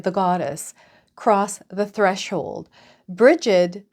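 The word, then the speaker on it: Brigid: Bridget, pronounced Brige in Irish, that's the other way I heard it, is the Irish goddess of fire, water, healing, and medicine, poetry, and smithcraft.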